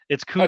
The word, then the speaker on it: Kutztown: proper pronunciation. It's Kutztown. Kutztown, correct? Cuts.